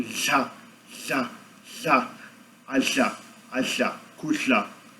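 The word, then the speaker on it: kudla: Alchá, alchá, kushla. É o verbo comer em Zulu, kusha, kushla, kusha. Comer, K-U-D-L-A, kusha, kusha. Um som bem raro e gostoso de pronunciar, acho bem interessante essa articulação.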